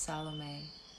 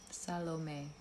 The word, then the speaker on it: Salome: we pronounce my name my name is pronounced Salome Salome that's how you pronounce it I'm feeling a lot